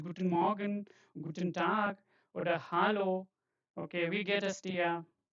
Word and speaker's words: Hallo: This is not hello. This is hello. Okay. Hello. So uh not like English. When you read such words you have to read it as German word not as English word.